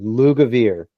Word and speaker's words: Lugavere: I am going to say his name correctly this year. Lugavere. He's not a larvae. He's a Lugavere.